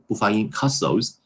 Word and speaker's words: castles: 再比方说什么，这些小词 neighboring，对吧？读不准，这个没事啊。那个，这个就是，这真的是口语的发音问题了。那我们看一下，串讲一下，这个好简单的一个故事。对于这个话题，我要跟你分享的是一盒子乐高积木，a box of toy Lego，是6岁的时候爸爸送我的生日礼物。有的时候我会一个人玩，一个人在家玩，然后呢，我会用这些 toy bricks，叫什么？积木块，OK，玩具砖头叫积木块，toy bricks 来建造很多有趣的建筑物，比方说 castles 城堡啊，castles 这个 ft 不发音 castles，停车楼啊，游乐场啊之类的。有些时候我会叫上我的邻家小孩，neighboring 邻近的小孩，neighboring